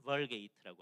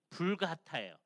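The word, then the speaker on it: Vulgata: 근데 옛날에 중세 시대 때 라틴 벌게이트라고 합니다. 예, 그게 이게 라틴어로 쓰면 이렇게 돼 있어요. 그래서 발음이 불가타예요.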